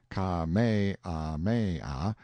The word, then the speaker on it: Kamehameha: I heard afterward that the comfortable, easy-going King Kamehameha, pronounced Ka-me-ah-me-ah, the fifth, had been seen sitting on a barrel on the wharf the day before, fishing.